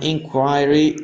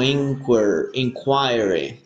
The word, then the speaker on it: inquiry: Porque yo normalmente lo pronunciaba como inquiry. Inquiry. ¿Ya? Pero en el inglés británico se pronuncia así.